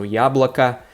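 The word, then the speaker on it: яблоко: the end of yablake is unstressed so it totally sounds like an ah so here it's very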